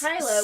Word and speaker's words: Kyla: Well, you can't because she's not pronounced Kayla. I know, she's pronounced Kyla, which so is upsetting.